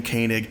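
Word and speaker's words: Koenig: He pronounces his name Kanig. That's how I pronounce my name.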